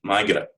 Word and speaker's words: Margaret: different um spell so margaret is often said migra um andrew andre andrew